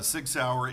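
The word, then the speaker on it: Sig Sauer: so just for uh the minutes what is Sig sour did I pronounce that right yes you did actually that was uh Sig sour is a u International firearms company that has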